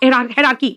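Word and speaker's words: hierarchy: अब आओ हेरार्की, ये एयर बोलते हैं बेटा, लेकिन जब आर्की में लगेगा तो प्रोनाउंसिएशन होगा हेरार्की।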